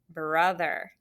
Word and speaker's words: brother: it just spell it remember we said this one has a schwa too you might think it's br uh it sounds like it should be a u but it's not that's why it's a